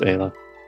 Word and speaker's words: Ayla: Or is it Ayla? It's Isla. Ayla. Okay. Wait. No, it's Ayla.